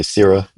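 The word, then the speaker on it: SYRA: y r a I like to say sir it uh sir it's easier for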